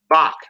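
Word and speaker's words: בך: That word, you would pronounce that bak.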